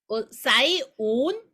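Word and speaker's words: 洗碗: 그리고 사이온 이렇게 발음이 납니다.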